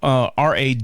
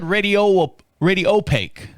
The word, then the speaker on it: radiopaque: So that's the talking terminology, Radiopaque, and it's Radiopaque is the actual word. You said Radiopaque. Well, I say stuff wrong most of the time anyway. I think you had the emphasis on the wrong syllable.